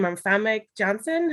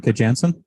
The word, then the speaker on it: Janssen: Famke Johnson. How do you say from X-Men? I recognize her. I know who I'm talking about. Famke Janssen.